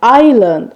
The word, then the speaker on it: island: It's pronounced island, island දූපත.